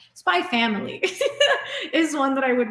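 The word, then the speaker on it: SPY×FAMILY: Oh, Spy X Family. I shouldn't be pronouncing the X. I know people are going to correct me on that. Spy Family is one that I would really recommend as well.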